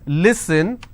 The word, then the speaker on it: listen: a problem for example if I have the word listen they pronounce this as listen it's not Lisa and joy is a